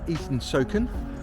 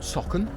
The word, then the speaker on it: Eaton Socon: It's in Eaton Socon, not Socon, Eaton Socon, because I've been saying it wrong all the time.